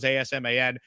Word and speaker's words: Asman: It's just at Asman, only one S, you sickos, ASMAN. It's pronounced Asman like Jasmine.